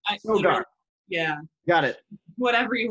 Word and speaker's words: Sogar: Sogar, I said it right. Sogar.